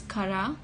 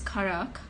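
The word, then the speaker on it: currach: And there are three different pronunciations for this word depending on where you live in Ireland. So in the northwest of Ireland, it's cara, and in the Midwest,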